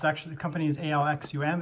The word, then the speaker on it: Alxum: this charger here uh it's actually the company's alxum it's actually pronounced axom or awesome this is their one 100 watt Gan power